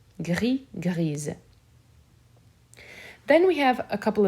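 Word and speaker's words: grise: griez feminine so here the s will be pronounced however it will sound more like a z grizz then we have a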